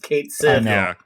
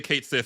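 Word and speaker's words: Cait Sith: we we have uh Kate Sith or Kai I don't know how to pronounce his name from Final Fantasy everybody pronounce it Kate Sith they say it they say Kate Sith in the game so do they great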